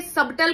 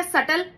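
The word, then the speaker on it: subtle: की एक कविता है इंग्लिश के तो अक्षर भी साइलेंट हो जाते हैं जैसे सबल का बी गायक और हो गया सटल और हमारी हिंदी भाषा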